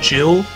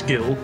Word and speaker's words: Gil: And sometimes another thing, Gil and Jill. Oh, dang, I always say Gil. You might catch me saying Jill, even though I'm pretty sure the actual pronunciation is Gil.